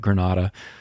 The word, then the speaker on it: Grenada: be in that parade representing Grenada, Mississippi, even if the folks on the news called it Granada, which is probably the technically correct way to pronounce it, but that's not how we say it.